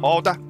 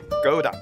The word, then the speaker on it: Gouda: 头台的色辣里面放了三种芝士，荷兰的豪达芝士 Holda，英文通常发音为 Gouda，挪威的 Jasper，还有意大利的帕马森地方芝士 Parmigiano Reggiano，味道各有千秋，对比着吃很有滋味。过了夏天，第一次启用了后院的披萨烤箱，用 Trader Joe's